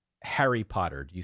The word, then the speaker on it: Harry: No, I say my Harry rhymes with Mario.